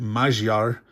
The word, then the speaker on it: Magyar: Now, if you want to pronounce it correctly, Magyar.